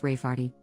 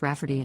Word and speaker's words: Rayfarty: sister wanting to name my niece Rayfarty, pronounced Rafferty, not at all like Rayfarty.